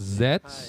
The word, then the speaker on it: Z: Taki series with the Z, which is a good sign. Yes. Yes, it's a good sign. It's their his lucky letter Z. and Yaraga Zet, which uh is pronounced Zet in Japan.